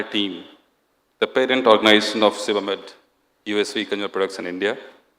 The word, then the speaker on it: Sebamed: So I just want to ensure that we pronounce it properly. It's Sebamed.